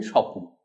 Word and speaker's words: স্বপ্ন: স্বপ্ন, পরিষ্কার স্পষ্ট উচ্চারণ। কিন্তু আমি যখন স্বপ্নটা বোঝাবার জন্য বলি তখন বলি স্বপ্ন। এই যে বললাম, এই স্বপ্ন শব্দের দুটো সিলেবল আছে, একটা সপ একটা ন।